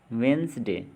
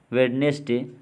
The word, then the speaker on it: Wednesday: HEIR, एयर, ISLAND, आइलैंड, DOUBT, doubt, REIGN, rain, WRAPPER, wrapper, WEDNESDAY, यानी कि वेंसडे। जी नहीं, मतलब यहाँ पे कहा जा रहा है कि asthma, hair, इजलैंड, doubt, Regan, वापर, वेडनेसडे नहीं है।